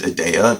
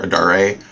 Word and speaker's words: Adare: thought in my head was named adeya because the narrator back in the day when i first read the series is british and they don't pronounce theirs but her name is actually adar adair adare um the daughter idea